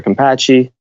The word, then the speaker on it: Campacci: my full name kampachi you spell that kampachi is C am like Mary and PA CCI okay there you go